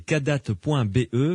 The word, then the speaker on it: Kadath: Il s'agit donc, le nom du site c'est kadat.be. Kadat, ça s'écrit KADATH.be.